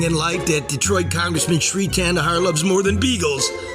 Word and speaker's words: Shri Thanedar: I always forget how to pronounce his name. It's Shri Thanedar. Shri Thanedar.